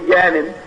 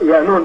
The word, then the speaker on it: Yanun: They say Yanin, it's pronounced Yanun, depending on the dialect of what galaxy you're in.